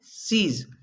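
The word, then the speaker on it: cease: सी ई ए एस ई, इसे हमें keys नहीं पढ़ना है। क्या पढ़ना है? सीज।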